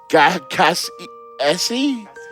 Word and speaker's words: Cassess: Don again because you said my last name wrong. Oh dear, I did it again. It's Cassie Essie. Cassis, I would like the drink.